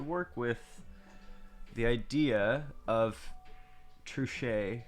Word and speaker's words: Truchet: with the idea of true shay or or trujit trichet is probably how you pronounce it true shade tiling